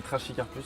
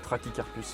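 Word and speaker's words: Trachycarpus: Ça s'écrit, ça s'écrit trash cararpus mais ça se dit trakicarpus fortun.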